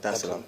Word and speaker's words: Dar es Salaam: Did I pronounce that right? Yeah. Dar es Salaam.